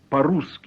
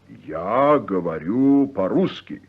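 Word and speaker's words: по-русски: speak Russian involves using the adverb po ruski meaning in Russian pronounce paruski ah so I speak Russian is yes paruski translate does she speak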